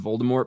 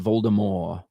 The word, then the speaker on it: Voldemort: Is the T in Voldemort pronounced or what? Depends on who you ask. Sometimes it is pronounced Voldemort, like that. You know, because it's fucking British. I'm going to say Voldemort because I'm fucking American.